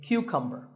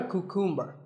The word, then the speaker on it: cucumber: now this is a cucumber it's not a cuckoo mer think of it like saying the letter Q and then cumber like number so